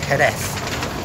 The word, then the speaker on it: Jerez: And in terms of Jerez, in terms of why I can't pronounce it, is because I'm used to saying it the Spanish way, Jerez.